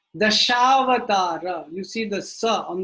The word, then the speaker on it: dashavatara: You don't say dasavatara. If it's the bunny is missing, the line is missing on the head, then how will you pronounce it? Dasavatara. But if it's the line is there, dashavatara. So you don't put the dot, it's not dashavata, right? You don't put the dot below because it's not cut off. Dashavata, dashavata. No, it is dashavatara.